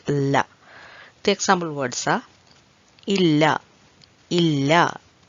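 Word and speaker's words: ഇല്ല: The example words are illa, illa. I think most of you know the meaning of it and the pronunciation of that very clearly, illa, which means no, no.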